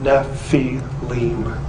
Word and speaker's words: Nephilim: constant of the naval this spelling is the ancient way of telling us that this is how you say the word Nephi Lim and therefore it cannot